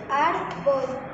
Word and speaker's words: árbol: Por ejemplo, árbol tiene el golpe de voz en A.